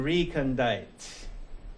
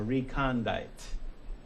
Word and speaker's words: recondite: Your conception recondite or recondite. Either pronunciation works.